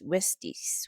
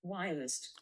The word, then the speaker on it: Wiest: So there's this book called The Mountain Is You by Brianna Brianna Wiest Wiestice Wiest Wiesty. I'm I'm Let me just correct that cuz I don't want to mispronounce people's name. Wiest.